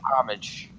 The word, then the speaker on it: homage: go that that's a that's actually the best way to say it paying homage that's the best that's